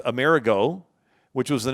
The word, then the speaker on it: Amerigo: The Italian pronunciation of Emmerich is Amerigo, which was the name of Amerigo Vespucci.